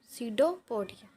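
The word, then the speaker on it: pseudopodia: Amoeba obtain का मतलब है कि लेता, टेक, ठीक है, its food through the false feet called सीडोपोडिया। ये साइलेंट रहेगी इसमें।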